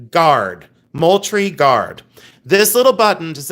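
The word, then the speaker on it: Moultrie: This is from the Moltry Guard. And Moltry is spelled just like it sounds.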